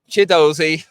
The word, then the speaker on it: Chidozie: Chidozie.